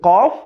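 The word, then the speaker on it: ك: একটা হচ্ছে কফ আরেকটা কাফ। বাংলায় আমরা জানি ক একটি। কিন্তু আরবিতে কিন্তু ক দুইভাবে উচ্চারণ হয়।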